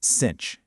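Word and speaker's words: sinh: First up is the hyperbolic sign, which by the way, you pronounce as cinch.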